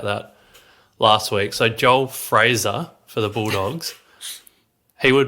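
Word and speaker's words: Freijah: So I've actually been told it's not Freya, it's pronounced Joel Fraser. Yeah. Some of the Bulldogs guys in Slack gave me a bit of stick about that last week. So Joel Fraser for the Bulldogs, he would be my number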